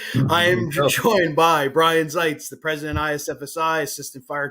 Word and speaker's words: Zaitz: you don't want to uh hate don't say zes and if you want to have a fight or don't want to have a fight make sure that you say Zees because that's how you pronounce his name so